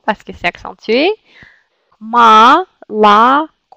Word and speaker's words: молоко: Vous voyez, il y a trois O, mais c'est une seule O qui se prononce comme O. Cette O, parce que c'est accentué. Malako. Malako.